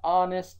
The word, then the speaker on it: honest: our neighbor is an honest person an honest person right the mistake is in the article err it should be n because H here is silent and our and I'm